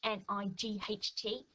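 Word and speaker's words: knight: And you've got night here with a silent K, so K-N-I-G-H-T is the night that you might find in a castle.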